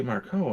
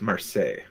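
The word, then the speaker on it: Marceau: catherine zeta-jones no sophie marco on her own is beautiful and it's uh that's not how you pronounce her name that's not how do you pronounce her name it's marseille how do you get marseille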